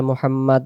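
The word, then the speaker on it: محمد: যদি আমরা এই জায়গায় আওয়াজটা ছেড়ে দেই। আল্লাহুম্মা সাল্লি আলা মুহাম্মাদ। তাহলে আমরা মুহাম্মদ পড়বো। আর যদি আমরা পরের মোহাম্মদে দম ছেড়ে দেই তাহলে আমাদের বলতে হবে আল্লাহুম্মা সাল্লি আলা মুহাম্মাদি ওয়ালা আলি মুহাম্মাদ।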